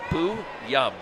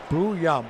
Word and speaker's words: Booyum: And he's just like, Booyum. Booyum.